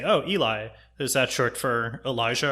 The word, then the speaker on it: Eli: letters and phonetic well it's three letters but two of those three letters are usually not pronounced that way I mean that's true so I can understand how you get to Ellie but also like to